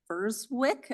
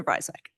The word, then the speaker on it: Breiswick: Next, I would like to call upon Verswick. Apologies if I mispronounced your last name. It's okay. It's Breiswick.